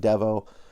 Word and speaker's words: Devo: Some people have been pronouncing it Devo. I'm not exactly sure what it is, but I've chosen Devo because he's got these weird funky glasses that remind me, there's this postmodern rock band, a mod rock band